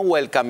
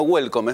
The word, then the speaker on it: Güelcom: Ayer se hizo la presentación para la prensa de una nueva película argentina que se llama Welcome. No Welcome en inglés, sino Welcome. Es más, escrito con diéresis, con G.